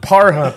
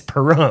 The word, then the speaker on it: Pahrump: were talking about it it is not par hump I can guarantee you that it's Pahrump I'm gonna look up the